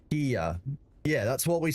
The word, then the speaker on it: Kia: But the fox was saying that you would pronounce it with a g sound in Korean. It would be gia or something similar.